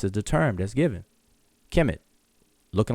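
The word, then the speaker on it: Kemet: of glyphs which is transliterated as KMT which we pronounce as Kim it and then he says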